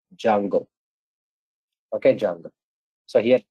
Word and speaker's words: Django: Django is also pronounced Django. Okay, Django. So here T is a silent, pronounced as Django, J-A-N-G-O, like this.